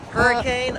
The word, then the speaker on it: Hurricane: name of the town we live in again hurricane oh yeah hurricane is that why it's called hurricane but you guys don't pronounce it hurricane you pronounce it no cuz